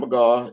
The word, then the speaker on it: McGaugh: long long time but McGaw is the how you pronounce my name thank you yeah I